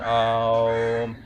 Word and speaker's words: Om: Now I'm purposely saying Om. When you do the Om, you don't have to do Om. No, just go with Om. There's a poetry in that. Okay, when we spell it, we know that Om has Akara, Ukara, Makara, A, U and Ma. But when you say it, don't spell it out like that. It kind of removes the poetry.